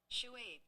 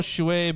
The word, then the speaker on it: Shuaib: Also, let's see how this is pronounced. Shuaib. Oh. Shuaib, okay.